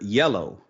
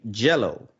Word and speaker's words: yellow: learning English also, but I couldn't really pronounce the color yellow. And instead I would say jello, like jello pudding, right?